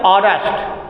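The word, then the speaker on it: honest: हॉनेस्ट हम पढ़ते हैं ऑनेस्ट, ठीक है, वो भी अंदर से आवाज, हॉनेस्ट, हॉनेस्ट कहते हैं, हॉनेस्ट नहीं हॉनेस्ट, आ से उच्चारण होगा।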